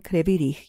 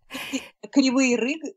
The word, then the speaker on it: Kryvyi Rih: Kryvyi Rih, it's in Ukrainian, and right. In Russian it's Kryvyi Rih.